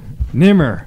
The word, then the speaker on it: Nemr: Nimr.